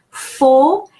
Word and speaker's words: faut: Faut, A-U is pronounced O.